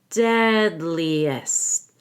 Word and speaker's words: deadliest: with a long e deadliest now I don't have to say the T because we have s t and another consonant so we can cross out that t deadliest threat the man's